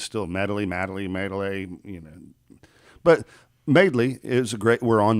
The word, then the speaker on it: Madeley: video to promote the show, and I'll put MAID-LEE, and and that's how you pronounce it, and it's still Madeley.